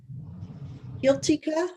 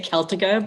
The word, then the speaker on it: Celtica: And next we'll hear from uh Guiltica. I probably am mispronouncing your last name and I apologize. You actually did a great job. Thank you. We say Celtica, but you did a really great job.